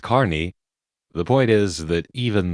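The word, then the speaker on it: Kearny: Spelled Kierney, pronounced Carney.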